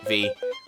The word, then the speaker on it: Vi: if it's V or Vi. The developers confirmed that it is V like a B. However, though, inside the limited print release of the game's manual, Jean pronouncing Vi's name like Violet.